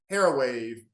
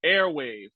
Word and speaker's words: Airwave: Okay, so first off, it's pronounced airwave. Everybody needs to understand airwave. So it's air as in heir to the throne, but also airwave as in radio.